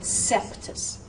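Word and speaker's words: Coeptis: So OE, forget about the O, say the E sound, and so that C goes, that's an E sound. That's not an O sound, so it becomes a soft C sound.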